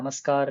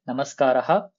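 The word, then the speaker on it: नमस्कारः: முதல்ல இருந்து அந்த கரெக்டா அந்த விசர்கா வரைக்கும் ப்ரொனவுன்ஸ் பண்ணணும். நமஸ்கார் இல்ல நமஸ்காரா அது மாதிரி தேவையில்லை. நமஸ்காரஹா, சுப்ரபாதம், சுபசாயம், சுபராத்திரிஹி.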